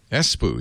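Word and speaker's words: Espoo: to e so it's esoo is that how you pronounce it in in h Finland espo yeah yeah you're going to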